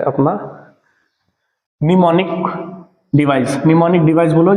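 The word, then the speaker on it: mnemonic: भी बोला जाता है एम साइलेंट रता है इसमें ठीक है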